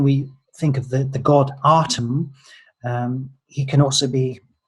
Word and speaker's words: Atum: So Atum could actually be pronounced Adam. There's no reason why that can't be the case from a linguistic perspective.